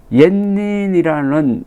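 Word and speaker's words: 円仁: 그 계기가 된 게 이분이 일본의 원인, 일본 발음으로는 옌닌이라는 일본 천태종의 승려가 쓴 여행기 입당구법 순례 행기를 영문으로 번역하고 해설을 책으로 낸 사람입니다.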